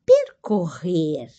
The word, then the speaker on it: percorrer: atardecer nós o verbo percorrer ó a pronúncia da duas R bem forte né percorrer nós percorremos